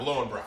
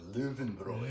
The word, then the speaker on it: Löwenbräu: So he corrected you on your spelling of or pronunciation of Lowenbräu. From that day on, it's always been Löwenbräu. Löwenbräu. Löwenbräu. Those little two dots.